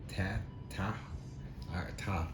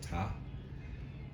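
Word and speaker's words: Ptah: Ta. I think the P is silent. So Ta.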